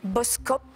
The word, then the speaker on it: Boskoop: pourrait tirer fléri christine boskoop bad buzz coop exactement c'est la ville c'est la somme bien ça s'écrit avec deux mais ça se prononce exactement à une copine vient